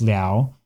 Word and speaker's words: 了: Okay, so this character la was almost certainly originally pronounced lao.